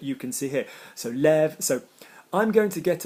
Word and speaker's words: lève: So when there's an ending like en or a, we keep the original pronunciation of e. And when, so le vent, lever, and when it's the last syllable, je me lève, tu te lèves, we would change the sound to an eh sound.